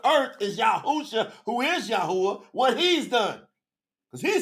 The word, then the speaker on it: Yahuwah: It's Yahuwah.